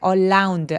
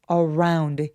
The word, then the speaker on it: around: around 발음할 때 around 아니고요. 알 발음은 입술을 쭉 내밀고 around 이렇게 표현하면 정확한 소리가 납니다.